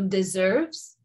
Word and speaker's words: deserves: And then the letter S is usually pronounced as Z between vowels. So deserves sounds like a Z, even though this is